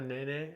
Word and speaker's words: Nene: A nene?